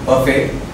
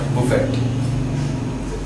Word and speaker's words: buffet: Today's old English language is buffet. It's pronounced how I said it just now. It's not buffet.